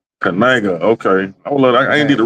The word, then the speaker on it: Knigga: It's Knigga. Knigga.